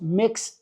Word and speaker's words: Mx.: Siegel, which is apparently supposed to be pronounced Mix Siegel. So for pronunciation, Mx. is pronounced like mix, like you're mixing things together.